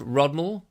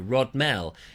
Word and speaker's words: Rodmell: I think it's called Rodmall, just south of Lewes, Rodmall, and I've called it Rodmell because that's how it's pronounced, Rodmell.